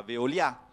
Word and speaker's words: Veolia: chi se ne occupa veolia con l'accento sulla a per se Fran Se italien chiaro il concetto Ecco favorisce